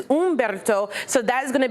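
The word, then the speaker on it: Humberto: So, we have Gabrielle, but this is not pronounced Ombberto. This is Ombberto.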